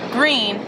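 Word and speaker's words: Gruene: in a town nearby called green it's spelled g-r-u-e-n-e just to get that right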